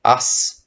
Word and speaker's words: аз: Even though it is spelt with a Z at the end or a Z, we pronounce it like a S.